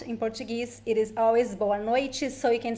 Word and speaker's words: boa noite: The TE also varies a little bit depending on the accent. Some people would pronounce T, boa noite, or boa noite, like in Paraná. In some places in Paraná they would say boa noite, but the most common pronunciation is boa noite.